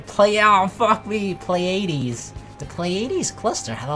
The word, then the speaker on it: Pleiades: The Pleiades. AIDS? It's not AIDS. It doesn't have AIDS. Oh fuck me. Pleiades.